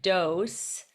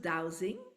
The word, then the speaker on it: dowsing: at your website and you use the word dose so explain to us what dose mean and